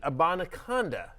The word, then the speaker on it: Abanikanda: He got the touchdown, but also how about Izzy Abanikanda?